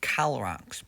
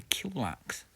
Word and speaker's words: Kilrax: It's actually pronounced Calrax, but in recent evolution it's evolved to Kilrax.